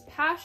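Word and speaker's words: PASH!: got was this one i believe this is pash is how you pronounce it and it has some token rhombu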